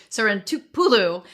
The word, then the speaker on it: Sarantopoulou: we're joined by one of our favorites vasia San Tulu and so if you heard me pause there folks it's because I finally got the pronunciation right s Pulu um and vasia has been with us before